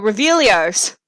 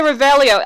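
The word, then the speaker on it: Revelio: i can get some extra five jewels oh revellios why did i say rebellio i'm gonna pronounce the spells completely wrong but anyways only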